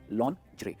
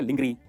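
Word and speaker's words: lingerie: क्या कहेंगे इसे? लॉन्जरे। बहुत सारे लोग इसे कहते हैं लिंगरी।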